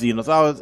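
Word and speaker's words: Zenos: Yeah, I've been wondering for a long time how his name is correctly pronounced. It is Xenos.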